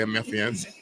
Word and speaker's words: Memphians: I think a lot of Memphians right now are, and that is how you say Memphians.